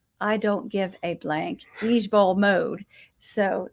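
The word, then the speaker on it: IJBOL: initials for this no it's pronounced each Bowl e e j Bowl instead of i j b o l well it's just easier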